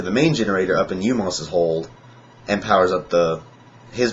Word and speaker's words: U-Mos: And the one you meet is one called U-Mos, or U-Mos. It's just the letter U hyphen M-O-S.